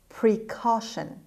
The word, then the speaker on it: precaution: number seven precaution precaution precaution the stress is on letter c k sound precaution means measures taken